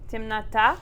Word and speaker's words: темнота: It's actually written as темнота, but we say темнота. Timnata. Yep, and that just means darkness.